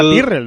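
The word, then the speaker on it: Tyrrell: del fundador que era Ken tyrel o Ken tyrel depende de de Cómo se pronuncia O sea que pero pero siempre se decía tirrel no Óscar se decía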